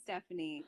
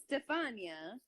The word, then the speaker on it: Stefania: pretty easy two syllables do people butcher your name yeah definitely Stefania I could see people Stephanie because they're stupid then say it but what they don't know how to like it's Stefania I know it is